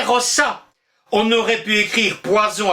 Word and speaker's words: rosa: Les latins écrivaient rosa, mais prononçaient rossa.